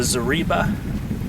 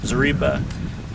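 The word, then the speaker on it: Zareba: charger or Energizer uh this is the zarba that's how you say it zarba uh 25m solar fence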